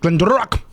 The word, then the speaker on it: GlenDronach: No, I actually had to watch a YouTube video to figure out how to pronounce We couldn't pronounce this. Right? Glendronach.